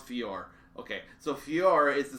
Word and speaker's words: Fjor: So it's pronounced Fjord.